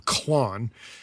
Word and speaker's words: Klon: However, they call theirs I guess you're pronouncing it the same, Klon.